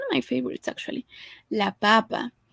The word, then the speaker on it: papa: But the pronunciation varies. This one, as you can see, doesn't have that accent mark. We put it in the word for papa. So papa, the stress syllable is this. The one for potato, the stress syllable will be in here, in the first one.